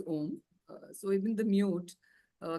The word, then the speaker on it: Om: grammar uh that they the A and the U CES to form o so it's pronounced as om so even the mute